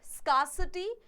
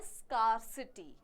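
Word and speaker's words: scarcity: है एंटोनीम है lock स्कार्सिटी इन एडेक्वेसी and deficit leg सबको पता है स्कार्सिटी पता है इसको प्रोनाउंस करते हैं स्कार्सिटी अलराइट स्कार्सिटी आर जो है साइलेंट होता है थोड़ा सा स्कार्सिटी होता है इन एडेक्वेसी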